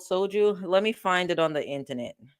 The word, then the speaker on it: soju: it's pronounced soju.